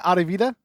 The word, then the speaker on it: Audivita: business for example specific let's plug your business out of vita am i saying it right adevida yes you are okay good i got it